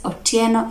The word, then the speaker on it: Otieno: And some names were shared, for example, like we have Otieno among the Luos and Otsieno among the Luhyas. You get the pronunciation difference? Otieno and Otsieno. That is the pronunciation different.